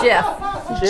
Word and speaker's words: GIF: a gift or a gif jiff it's called will they pronounce it gif but i say jiff because i think it